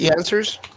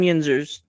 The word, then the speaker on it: Yinzers: So if you how do you spell it? Yansers? Two dumb Yinzers.